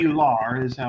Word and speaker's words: titular: titular is how I'll say it.